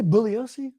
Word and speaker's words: Bugliosi: opinion is on Vincent bugliosi some people say bullos he made a big deal about that right saying the g is silent right I think we the Manson research Community must include the G it's fun to call